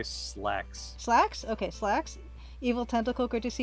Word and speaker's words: Sislax: I just say slacks.